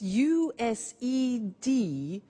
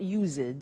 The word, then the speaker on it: used: we use used to look at the spelling s it's it's u s e d and then t o but the pronunciation is not used it's used unusual used okay so the example